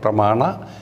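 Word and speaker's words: pramāṇa: to the diacritical mars so it is pronounced as na therefore there is a dot under yen pramana shastra visha shastra so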